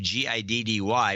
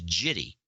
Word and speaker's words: giddy: is Jeff correctly so he sees that G thinks it's a soft gene he says Gitty instead of giddy yeah yeah well he's